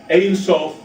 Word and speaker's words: Ein Sof: And so Ayin changes its pronunciation to Ein when it comes before the word Sof, which means boundary. So this is Ein Sof, the no boundary, hence